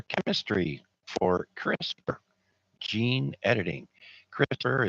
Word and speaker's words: CRISPR: CRISPR is spelled CRISPR. There is no E.